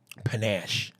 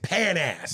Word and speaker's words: panache: Leonardo Catherine went uh panache and Sam Jackson mispronounced it it was Panache and he said pan-ass Spanish he goes yeah